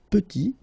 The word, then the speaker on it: petit: Final T is not pronounced, and then when you add this E at the end, you get the sound T, petite.